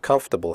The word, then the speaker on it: comfortable: The word comfortable has 3 syllables, not 4.